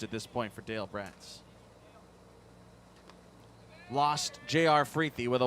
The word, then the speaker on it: Bratz: Dale Bratz, spelled like the doll, B-R-A-T-Z, Dale Bratz.